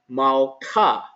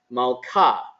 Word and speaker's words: malka: And the way that we pronounce this word, or the way that we read this word, is malka, malka, okay?